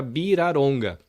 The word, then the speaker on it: Villaronga: Quando é V, vira B, a pronúncia, né? Porque não tem esse som no idioma deles. Uhum. E quando é L, eles falam R, porque é a fonética que tem. Então meu nome fica Biraronga.